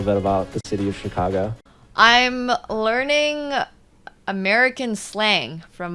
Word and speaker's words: Chicago: about the city of Chicago I'm learning American slang from my American compatriot here I love it so it's Chicago not Chicago Chicago got it yeah interesting um so